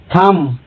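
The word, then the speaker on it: thumb: जैसे लैम, यम के बाद बी आ रहा है या बी साइलेंट है इसलिए लैम। थम, क्लाइम, यहाँ पर बी साइलेंट है इसलिए यहाँ पर माँ के पढ़ा जाता है, जैसे क्लाइम, बी साइलेंट है।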